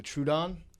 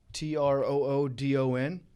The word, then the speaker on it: Troodon: my last one is i think it's pronounced the true the true dawn t-r-o-o-d-o-n so the troodon is